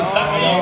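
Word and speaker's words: Fidough: It is the That's the Fido. correct pronunciation.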